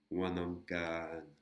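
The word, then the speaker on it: วันอังคาร: Donc on a la syllabe kan. Wanankan.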